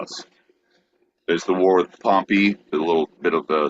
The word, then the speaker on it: Pompey: the town is pronounced Pompeii. He's pronounced Pompey.